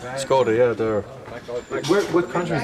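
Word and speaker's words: Škoda: That's how it's pronounced? Skoda, yeah, they're.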